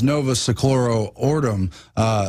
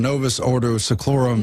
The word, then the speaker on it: Novus Ordo Seclorum: years but now it's Novus a chloro ordem new order of the ages excuse me I said it wrong Novus Ordo seclorum you new order of